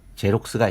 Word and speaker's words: Xerox: 흔하게 볼 수 있는 단어로 XEROX, 제록스가 있습니다. 이때 단어 처음이 알파벳 X는 제록스의 맨 앞의 제의 자음 지읒으로, 그리고 단어 끝의 X는 바로 앞에서 설명한 내용을 참조하시면 충분히 읽으실 수 있으리라 믿습니다.